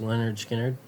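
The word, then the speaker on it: Lynyrd Skynyrd: We got pronounced Leonard Skard and uh all time greatest hits.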